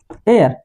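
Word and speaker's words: heir: तो क्या होता है, ये एच नहीं साइलेंट है, एच को क्या करते हैं, साइलेंट कर दिया, तो साइलेंट कर दिया तो ई से शुरू हो गया, तो हमारा मामला वहीं सेट हो गया।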